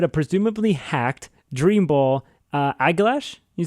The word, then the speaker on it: Aegislash: So when they traded me to baby Aeglash, to me, I'm just gonna mispronounce it every single time. Aegislash.